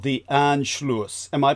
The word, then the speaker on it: Anschluss: It was called the Anschluss. Am I pronouncing that correctly? A-N-S-C. The Anschluss, yeah. Anschluss.